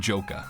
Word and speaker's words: Joka: Enter Ghadius and his minion Joka, pronounced in the game's Phantomile language as Gadi and Jok.